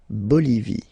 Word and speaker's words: Bolivie: Okay, final E not pronounced. La Bolivie. La Bolivie.